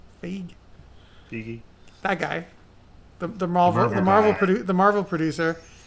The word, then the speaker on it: Feige: but apparently because Kevin Feige, how do you pronounce his last name? Feige.